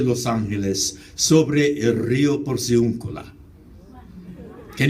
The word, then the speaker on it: Los Angeles: The proper pronunciation of my city's name is La Ciudad de Nuestra Señora, la Reina de Los Ángeles, sobre el río Porciúncula.